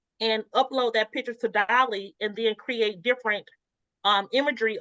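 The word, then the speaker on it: DALL-E: Well, Chat Now, since then, Chat Now has that function where I think it's called Dell or Delly. I'm probably pronouncing it wrong. Dolly. Dolly.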